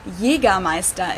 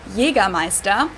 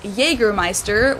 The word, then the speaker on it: Jägermeister: From shoes to alcohol, this is pronounced Jägermeister in German. Jägermeister. English speakers usually say Jägermeister, which is pretty much the same, just with a pretty thick accent.